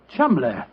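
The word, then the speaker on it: Cholmondeley: name Chumley is in no way pronounced the way it is spelled. Joe, I never thought of that. Chum.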